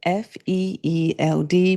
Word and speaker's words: Feeld: And lady, that is where Feeld comes in. It's spelled F E E L D, pronounced Feeld.